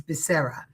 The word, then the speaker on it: Becerra: Becerra, I'm saying it Italian way. It's Becerra. He is currently the AG,